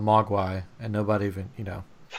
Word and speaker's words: Mogwai: on your Chinese - pronunciation for that in China Mogwai maka there you go good correct um so